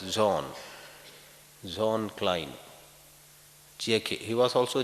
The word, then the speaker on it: Jean: to correctly pronounce it it's a French name spelled j-e-a-n it is pronounced as John John Klein he was